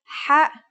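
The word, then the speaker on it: ح: According to phonetic charts, ha is pronounced in a deeper part of the throat than kha.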